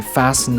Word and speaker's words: fasten: doubt, or debt, or the T in fasten, mortgage, or castle, or the L in